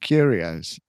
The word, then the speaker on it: curios: Like Cheerios, but curios exactly like that.